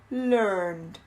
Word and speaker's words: learned: A gente não pronuncia muito o E, a gente pronuncia mais o D. Trained, learned. Ok? Não tem muito E no meio. É um som bem curtinho.